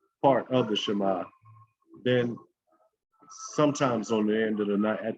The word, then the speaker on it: Shema: terms means to hear the hebrew word pronunciation sounds more like shema but it is also